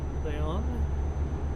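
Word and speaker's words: León: Leon leon with the accent on the own.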